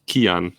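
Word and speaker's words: Cian: way it's uh so it's an irish name it's kian as if with k thank you okay right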